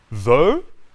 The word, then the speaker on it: though: Though, like in go.